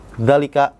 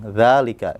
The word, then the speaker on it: ذلك: Jadi bacanya enggak dzalika gitu ya, atau dzalika gitu, enggak, tapi za-nya yang panjang, dzalika gitu ya.